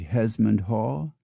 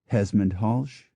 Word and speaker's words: Hesmondhalgh: The family name Hesmondhalgh can be Hesmondhall, Hesmondhalch, or Hesmondhalch.